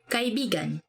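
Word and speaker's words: kaibigan: about it okay our next favorite word is kai bigan meaning friend let me say something about this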